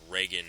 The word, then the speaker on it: Reagan: It'll take me a while to get used to your name being Reagan and not Regan like I always pronounce it.